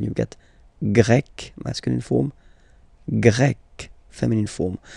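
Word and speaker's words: grecque: get grec, masculine form, grec, feminine form. You write them differently, but then if you listen carefully, grec, grec, you pronounce them the same way.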